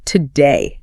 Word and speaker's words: today: It is spelled T-O-D-A-Y. Spelled with a clear O. So, today. No native speaker enunciates today in natural conversation. Right. The semantic weight, the stress, is on the second syllable, day.